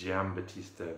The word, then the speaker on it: Giambattista: The gist of it is that Giambattista Vico, I think I'm saying that right, because G-I-A, you say Giardino, Yeah, so not Giam, it's Giambattista Vico.